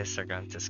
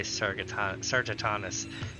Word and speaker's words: Sargatanus: Just because I have spent years learning to say Sargantus correctly. Only to now be here and have to say Sargatanus.